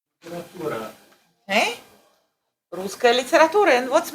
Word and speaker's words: литература: Okay, американская литература. Clearly. No rush. Litera. What's the next syllable?